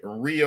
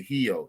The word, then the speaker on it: Rio: more so and he real or they pronounce the heel their r's are like a h they call it heel um yeah just there